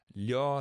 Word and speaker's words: 려: I think I said it wrong, and it clicked one day for me when someone told me to think of it as li plus o, and say that quickly.